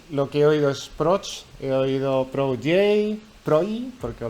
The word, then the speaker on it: PROJ: Los norteamericanos dijeron proch como Dodge. Y algunos incluso empezaron a discutir cómo se pronuncia la O. Y José Luis me contactó y me dijo en privado, no en el chat general, prog como reloj o boj.